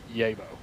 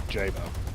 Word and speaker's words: Jabo: fighter bomber variant the A1A Yabo, or Jabo, if you want to pronounce it like I would normally pronounce things in English, pronouncing the J.